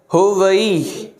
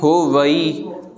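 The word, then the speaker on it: होवै: जी application खोलो, ईअं हो वई, ठीकु आहे। असां कई पढ़ंदा आहियूं होवी, होवी न आहे, हो वई, ववे सां मुक्तो जेको आहे उच्चारण थींदो, वई।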